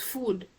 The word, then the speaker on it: food: this food and mood they contain a double O we don't see any u sound here or o sound here but how do we pronounce it we pronounce it using this sound so this becomes food mood okay and then look